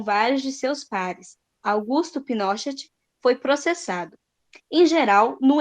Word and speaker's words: Pinochet: É porque às vezes você assiste alguma notícia, alguma coisa, Daí eles não vão falar Pinochet, eles vão falar Pinochet. Mas é Pinochet.